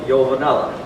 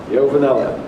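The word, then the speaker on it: Iovanella: not pronouncing my name in Italy it's with a yo yo Vanella yo Vanella okay thank you thank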